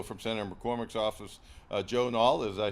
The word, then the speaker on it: Nall: And also from Senator McCormick's office, Joe Nall, did I say it right?